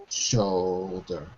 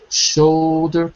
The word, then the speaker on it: shoulder: think so no no I think it's more like cold let me say shoulder cold it's to me it's like a long o like e cold cold should Cod that's it